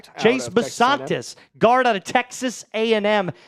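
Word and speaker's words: Chase Bisontis: Chase Basantis is I believe how you pronounce this. Am I getting that correct? That is 100% correct. Chase Basantis, guard out of Texas A&M, 65 315.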